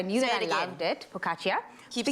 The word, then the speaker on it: focaccia: It's called focaccia.